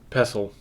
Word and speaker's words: pestle: about like inks and tell me how to say this word for me mortar and pestle castle oh yeah oh yeah